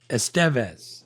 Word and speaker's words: Estevez: Yeah, that's how he says it. That's how I'm saying it. Yeah. No, that's the right way to say it apparently because that's how his dad says it too when he talks about it.